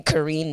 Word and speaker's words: Karine: now you know honestly my name actually is pronounced Korean you know what I mean but growing up I didn't actually know the proper pronunciation like as weird as it sounds but that was my dad's fault it's actually pronounced Korean so when people meet me even I was here my teachers would read out Korean I'm like no it's Karen but that's not how it's pronounced but I'm not for